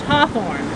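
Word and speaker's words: Hathorne: New England accent the the family name h a t h o r n e is naturally pronounced Hawthorne um but when he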